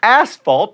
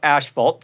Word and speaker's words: asphalt: by the way and athlete asphalt not ashalt tmy and bakus off